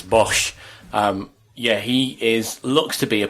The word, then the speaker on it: Bosz: Correct pronunciation is Bosz.